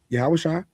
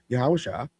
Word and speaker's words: Yahawasha: But I can tell you beyond a shadow of a doubt, yes, Yahawasha was that's how you actually pronounce the name, by the way, for those in the know. Yahawasha TZ existed.